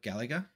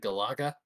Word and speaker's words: Galaga: Aussies will pronounce it as Galaga. I guess it's because we've got galahs, which are similar to cockatoos.